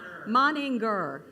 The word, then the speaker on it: Moninger: me a text and said this is how you pronounce it and he said maner moninger what was the grr thing you said you said g moninger moninger okay Reverend minger